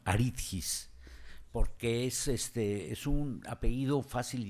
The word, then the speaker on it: Aridjis: y él me decía Aritgis. Luego él me está diciendo Aritris, Aritgis, pero ustedes no se compliquen, pronúncielo como se escribe, Aritgis.